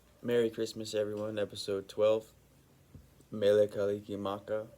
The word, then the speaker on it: Mele Kalikimaka: Mele Kalikimaka that's how you say it in Hawaii Merry Christmas um real